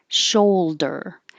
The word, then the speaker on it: shoulder: lunch date lunch date shoulder shoal it looks like oh you but we just say oh show der and this is very